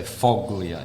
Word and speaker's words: foglia: in Italian you see you don't really pronounce that g you don't say foglia in Italian it's like yeah like